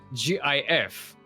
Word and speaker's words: GIF: It's like if we say GIF, then yeah, we say a soft G, not a hard G.